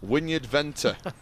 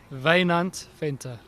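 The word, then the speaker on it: Wynand Venter: name in this you I'd pronounce it Wynyard Venter what's his real name Vayne Aunt Pinta so that's his own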